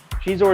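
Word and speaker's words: Xizor: How do you say Shizor? Do you say Shizor? Do you say Zizor? I think it's supposed to be Shizor. Shizor is how it is in the audiobook, so, you know.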